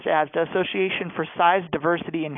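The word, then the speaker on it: ASDAH: It's pronounced ASDA, Association for Size, Diversity, and Health.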